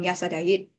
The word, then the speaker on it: Razadarit: You may know him in a more well-known Burmese pronunciation as King Yasadayit, or the Thai pronunciation as King Rachathirat or Prachao Rachathirat.